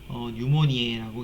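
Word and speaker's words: pneumoniae: 이 피는 묵음이에요. 그래서 뉴모니에라고 이제 이렇게 되고, 그 폐렴의 원인균이에요.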